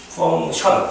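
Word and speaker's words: function: Fun 펑션 c가 무음이고요.이 펑션이라게 기능이란 뜻이 있어요. 명사로. 그리고 이제 우리 수학 용어로는 이거 함수야.이 c가 발음이 나지 않아요. 펑션이야.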